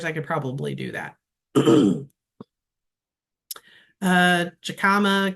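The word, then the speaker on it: jicama: Jacama, California cousins pronounce it as an H.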